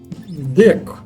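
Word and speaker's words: deque: воно пишеться як STD дек це теж читається як Q Ну де Q воно ще Ну насправді воно там де Ось так читає пишеться дек сама саме слово англійською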